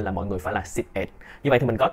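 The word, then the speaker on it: สิบเอ็ด: Trong tiếng Thái cái quy định đó là khi mà 11 á, 11 á là sẽ là xịp ẹt. Mình đọc là xịp ẹt. Xịp ẹt nha mọi người, ẹt. Giống như là con ẹt, ẹt, ẹt, mình là ẹt.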